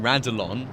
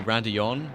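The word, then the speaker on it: Raidillon: I kept on saying Radillon with an L. It's actually Radillon, isn't it?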